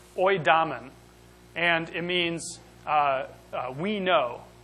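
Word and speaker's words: οἴδαμεν: The word is pronounced oidamen.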